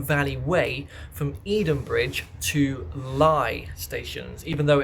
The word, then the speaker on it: Leigh: Way from Edenbridge to Leigh stations. Even though it's spelled like Leigh, you'd think it would be pronounced like that. It's not. It's telling a lie.